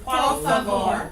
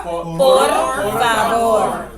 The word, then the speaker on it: por favor: Por favor. What did I say with those R? Por favor. Right. Por favor. You hear the rolling? Yes. Okay, so we pronounce it clearly.